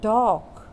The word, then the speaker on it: talk: this rabbit it could talk ta LK talk as you can see Ellis Island ta LK top means L is silent here you don't say talc